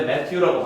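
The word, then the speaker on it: Matthew: 마태복음은이 원래 매튜라고 발음하는데 자 무릇 있는 자는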